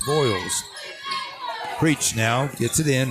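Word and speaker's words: Vils: in for Wolf County how you you pronounce it I pronounced it VES voils voils okay v i l s voils preach now gets it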